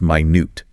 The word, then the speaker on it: minute: Minute, pronounced minute, very small, tiny, minuscule, dimminionative, connected to precision, meticulousness, detailed observation.